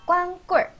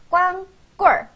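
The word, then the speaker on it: 光棍儿: 두 번째 단어는 꽝입니다 일반적으로 는 얼화 넣어서 더 비참하게 발음합니다 꽝 꿀 그냥 꽝 꾼도 비참한데 일반적으로 얼화 써서 꽝 꼴 꽝 꼴 하고 꽂아줍니다 꽝 꼴 일반적으로는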